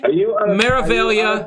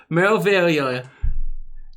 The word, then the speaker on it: Meraviglia: Meraviglia. Meraviglia. I heard somebody pronounce it Meraviglia the other day. But it's Meraviglia. It's like Meraviglia.